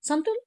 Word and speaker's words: santoor: The sound of O in Santur is long. Santur, you say no, Santur.